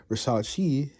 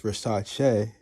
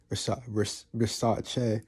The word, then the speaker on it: Versace: because I never really realized that I was pronouncing it wrong, Versace. But as I did research, I realized that it's Versace, Versace.